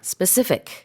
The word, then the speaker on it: specific: specific. Yeah, the emphasis is on that second syllable, specific.